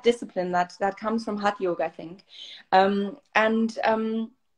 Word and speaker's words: hatha: as well it's discipline um so you know hot yog or hatha yoga as it's pronounced in the uk and maybe in some